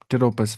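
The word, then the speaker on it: Pteropus: यहां पे शायद पी साइलेंट है। हां टरोपस।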